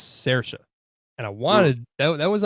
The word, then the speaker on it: Saoirse: Looking at it, it's like Saoirse, but it's Saoirse.